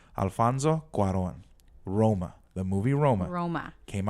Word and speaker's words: Cuarón: Cuarón. But he keeps calling him the wrong name. Alfonso Cuarón.